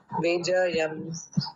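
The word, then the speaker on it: विजयम्: Anant विजयम विजयम।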